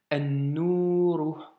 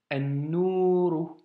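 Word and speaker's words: النور: Le Noun possède une shedda, donc le Elif Lam s'écrit, mais le Lam ne se prononce pas. An-Nouru, An-Nouru.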